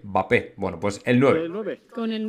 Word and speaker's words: Mbappé: de favorito Romano porque los italianos por algún motivo no sé no pronuncian la m mbappé mbappé Bueno pues el nueve